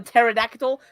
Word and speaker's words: pterodactyl: Dilophosaurus I love the pterodactyl the p is silent everybody knows that I knew it uh uh